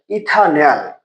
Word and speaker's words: ইথানেল: অর্থাৎ এখানে ইথানেল। কেন ইথানেল বললাম? কারণ অ্যালডিহাইড যৌগের উচ্চারণে নেল কথাটা শব্দশেষে যুক্ত করতে হয়। দুই কার্বন হল ইথা আর অ্যালডিহাইড মূলক থাকলে হয় নেল। এটা হল ইথানেল।